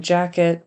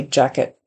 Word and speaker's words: jacket: word then and then jacket not a big deal but we generally don't pronounce that t with as much air when it's at the end of the word so we would just say jacket and said jacket pick